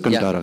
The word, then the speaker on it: Kantara: Yes, I mean, starting with KGF, Kantara, if that's the right way to say it, Kantara.